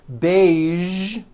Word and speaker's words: beige: television very good now there are only a few words that have the voiced sound at the end a few of these words are the color beige the word massage and the war prestige okay now that you